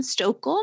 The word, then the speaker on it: Stochl: username across most all platforms is m stokel my last name is spelled s-t-o-c-h-l and then pre-loved podcast is a